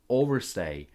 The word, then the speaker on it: overstay: Pronunciation tip, overstay. Sounds like overstay. The stress is on the first syllable.